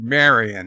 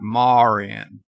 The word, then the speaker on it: Marion: I said this yesterday how do you pronounce Marion you pronounce it Mary and not Mauryan and the same way you